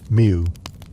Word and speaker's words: mjw: The Egyptian word for cat was MJW, pronounced mew, which is, yes, exactly what it sounds like.